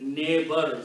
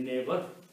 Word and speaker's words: neighbor: So, like neighbor, sometimes it is written with N-E-I-G-H, okay? We don't pronounce many of those letters in the neighbor, okay?